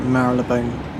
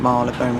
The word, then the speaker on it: Marylebone: later so Richard ever I think it's pronounced divert feel like Marilyn bone Marylebone where I got anyway and